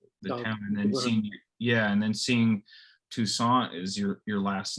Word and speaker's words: Toussaint: Toussaint, like croissant. Okay, Toussaint, like croissant.